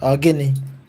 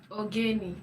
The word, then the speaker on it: Ogini: We say Ogini. Ogeni. Ogini. Ogeni Wagwan. Ogeni Wagwan. Ogeni I didn't say Wagwan. Ogini, I said Ogini.